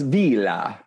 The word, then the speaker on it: Villa: the joy villa show actually it's pronounced vila that's right excuse me